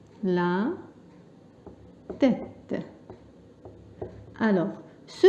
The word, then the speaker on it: tête: باللغة الفرنسية on dit la tête. La tête. Alors ce E là avec accent grave, il se prononce E, comme par exemple crêpe.